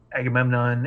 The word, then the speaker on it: Agamemnon: local werewolf, retrieve something from his office at Agamemnon Industries, I believe it was. Yes, that's how you pronounce it.